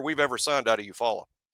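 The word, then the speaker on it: Eufaula: Best French player we've ever signed out of Eupfalla. I mean, it's a long list. I think it's Eufal is how they like to pronounce it.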